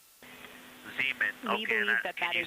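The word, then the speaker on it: Zeman: We believe that's Zemen Crater. We believe that that is Zean Crater. Oh, I floated away from the speaker. Say it again, please. Zemen.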